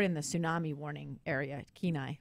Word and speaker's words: Kenai: the tsunami warning area Kenai which CNN couldn't pronounce ke nai in the Kenai Peninsula sounds like Kenai to me yeah and so but